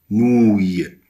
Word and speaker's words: nouille: Nouille, nouille, nouille, O-U-I-2-L-E, se prononce ouille, nouille.